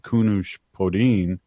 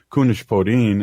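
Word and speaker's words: Kunesh-Podein: former state representative Mary Co Kun podin and I said that wrong kunish podin and it took me six or seven years to uh say her name correct and then she changed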